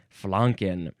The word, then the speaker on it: flanken: proper way to say the vowel ah yes flanken uh this is a Yiddish word it's the